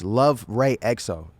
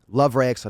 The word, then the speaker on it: LUVRXYXO: It's LUVRXYXO. LUVRXYXO.